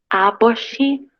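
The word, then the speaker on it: 아버지: Omoni, aboshi, halmoni y haraboshi. Papá, ¿cómo era? Aboshi. Se pronuncia más como una P o P. Como una B, abo. Aboshi.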